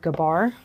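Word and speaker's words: גבר: It comes from the Hebrew word gabar.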